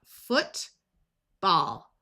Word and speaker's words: football: In this word, OO is going to use the sound, and ALL will have a broad A sound of ah, so we have foot, ball, football.